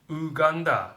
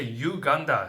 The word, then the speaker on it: Uganda: country here in Japan we called your country ganda but like I you say Uganda so that's like a right pronunciation right Uganda and coffee so she's